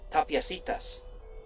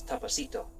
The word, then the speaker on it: Tapiacitas: 300 feet above the canyon floor on an unlikely arid banco is this pueblito called Tapiacitas, sometimes mispronounced as Tapacito.